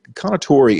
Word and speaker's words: Kounotori: The Kounotori, and I hope I'm saying it right, and I think I have from my research.